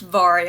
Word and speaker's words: Vari: So it's pronounced Vari, I'm pretty sure.